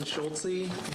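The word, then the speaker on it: Schulze: and state your name for the record and spell it for us schultzy last name schultzy s-c-h-u-l-z-e some of the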